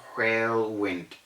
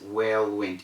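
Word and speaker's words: whirlwind: then we have well people say there was a whale wind around today it's not railwind the wind is well went even though it is spelled as w h i r l so well wind not whale wind not that and then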